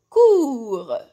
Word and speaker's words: court: شوفوا المثال الاول كور. كور regardez لو تي هذه راني كاتبتها ما رانيش ننطقها، حرف صامت. دونك كور كور. Le T est une lettre muette. صحيح ما رانيش ننطقها، راني غير كاتبتها. شتولي عندنا كورت.